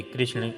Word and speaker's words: कृष्ण: भगवान श्री कृष्ण का नाम कृष्ण है, कृष्णा नाम गलत उच्चारण है।